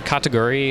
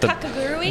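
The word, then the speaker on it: Kakegurui: Two that come to mind is the Kataguri, if I'm pronouncing that. Kakagurui?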